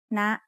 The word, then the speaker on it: นะ: One example that we already had was นะ. It has an initial low-class consonant and it has a dead syllable consisting of a short vowel. So it is high tone. นะ. High tone starts at a high pitch and rises very slightly.